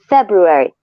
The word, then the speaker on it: February: And I have a video recording of her repeating after me every, syllable, Feb, Rue, airy, February.